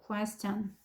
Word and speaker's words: question: QU가 쿠야. 그 다음에 TION은 천 이런 소리가 나요. question.